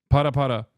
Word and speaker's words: Para Para: This time not twerking, but this time specifically pare pare. Is that how you say it? I'm putting Miskiff through another humiliation ritual. Yes. Para para.